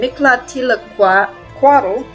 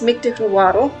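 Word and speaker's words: Mictecacihuatl: hutler and her husband mikhla tilaqua quaddle i said her name wrong that entire time it's mythical waddle and his meclantiquado are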